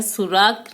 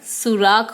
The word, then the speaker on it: सुराख: यह सुराख नहीं होता है, यह सुराख होता है, जिसका अर्थ है छेद।